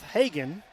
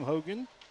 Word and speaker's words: Hagen: And now Seth Hagen, my apologies to him as I mispronounced his name. Hogan, which is crazy because I've known his dad for years now.